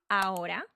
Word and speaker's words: ahora: So the H is not pronounced when it is at the beginning of a word or when it is between vowels. For example, hola. So we just say it like hola. There are other words like haber, hacer, hielo, hueso, and in between vowels like ahora will also not be pronounced.